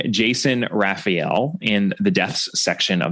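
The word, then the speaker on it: Rafiel: raffel's last name as Ral which is how at least one of the adaptations of a Caribbean mystery pronounced it it seems that the predominant pronunciation is Raphael I suppose you could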